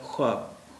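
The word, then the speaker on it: خواب: ख्वाहिश, ख्वाहिश, ख्वाब, ख्वाहिश, लेकिन अब इनके उच्चारण में वाव का उच्चारण ये नहीं होता है, ये इसका उच्चारण होता है ख्वाब, ख्वाब नहीं होता है। ख्वाहिश इसका उच्चारण नहीं होता है, इसका उच्चारण होता है ख्वाहिश, यानी वाव का उच्चारण यहाँ पे गायब हो गया।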